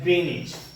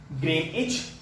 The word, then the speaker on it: Greenwich: Zero degree longitude, 0 degree longitude is called as Greenwich, which is pronouncing as Greenwich. Greenwich.